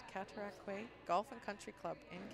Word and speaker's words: Cataraqui: Country Club in Kingston I actually know the pronunciation of that one because when I played in the travelers Nationals at the Cataraqui Cataraqui okay I always but I was corrected Cataraqui Golf and Country Club